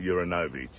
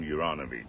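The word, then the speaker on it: Juranović: wrong again um because i call him uranovich everyone calls him yuranovic yeah it's just a matter of pronunciation but anyway he smashes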